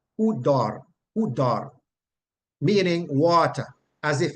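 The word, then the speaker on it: ὕδωρ: It's just the same word, and it is pronounced hudor, hudor, hudor, with a little roll on the R, hudor, hudor, meaning water, as if raining, literally or figuratively, water.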